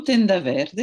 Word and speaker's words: Tenda Verde: Mais je le prononce peut-être mal. Non, pas du tout. Tenda Verde, c'est bien ça, rideau vert.